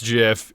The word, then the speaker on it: GIF: creator of the format the guy that came up with it said there's no other way of saying it it's JF it's his baby he gets to pronounce it however he wants just like who's that